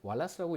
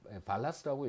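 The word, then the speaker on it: Walras: 하는 경제학자가, 레옹 왈라스라고, 이거를 이제 왈라스라고 읽기도 하고 발라스라고 읽기도 하고 뭐 하여튼 왈라스라고 하는 이제 경제학자가 일반 균형이라고 하는, 나중에 여러분 배우시게 되겠지만 어떤 균형의 개념을 소개를 했고요.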